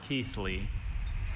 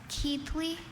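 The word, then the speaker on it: Keighley: Are there any alter pronunciations? There is just the one. Keithley. Can you say it? Keithley.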